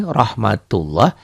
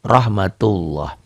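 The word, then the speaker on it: رحمة الله: atas sini kali ini Doma kalau seperti ini rohmatullah dibacanya tuh rohmatullah tulisan-tulisannya seperti ini bacanya beda ya tulisannya akan Rahmatullah elne di bacalah ya ndak dalam bacaan dibaca loh rohmatullah makanya saya tulis disini kadang-kadang kalau tulisan latin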